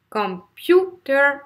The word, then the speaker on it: computer: Vous avez par exemple computer. Computer, là c'est la deuxième syllabe, computer, donc ça je